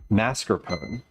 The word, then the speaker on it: mascarpone: Lemon says something I hear a lot is mascarpone. Right. It's mascarpone. It is just mispronounced.